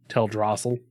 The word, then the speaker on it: Teldrassil: Teldrassil is always how I have pronounced it, but I've also heard it Teldrassil.